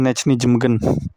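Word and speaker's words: Nijmegen: Karena kabarnya yang bujuk Hilgers buat jadi WNI juga salah satunya dari Calvin Verdong ya, pemain Nechny Jemegen, yaitu pelafalan Indonya gitu, Nechny Jemegen.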